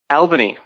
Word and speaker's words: Albany: And Albany is the answer to your question.